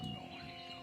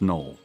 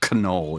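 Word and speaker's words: Knoll: way, but it's pronounced null, right? So, you know, Photoshop, original creators of Photoshop with his brother, Thomas Null, blah blah blah blah. The K is silent. So it's not canol, it's null.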